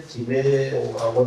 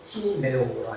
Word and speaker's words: 디메오: 우리 성경에 디메오라고 나오지만은 이 말고 좀 더 강한 액센트로 티메오라 이렇게 부릅니다.